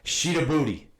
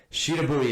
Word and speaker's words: Shidabhuti: It's called Sheeta Booty. Sheeta Booty. It's not spelled Sheeta Booty. It's Shidabhuti. Sheeta Booty. That's how they say it.